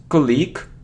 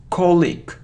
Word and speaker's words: colleague: it does it isn't click what isn't colleague its colleague colleague so the stress is on the first syllable and we have the sound e so alone e so